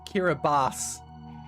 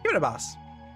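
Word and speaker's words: Kiribati: The country Kiraabati is pronounced like Kiraabas. Kiraabas.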